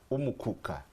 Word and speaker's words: Umukuka: So we have, it's called Umukuka. Umukuka. That is for Bududa, Manafa, Namisindwa, and parts of Mbale. Now, but because Bugisu is a kind of cosmopolitan, you have the Budadi element. So now when we cross, the pronunciation changes to Umuguga.